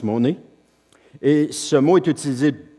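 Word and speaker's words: μονή: sommaire c'est en grec le mot monnaie m o n e en prononce monnaie et ce mot est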